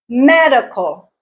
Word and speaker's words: medical: words banana banana banana medical medical medical me is the stressed syllable motivate motivate motivate MO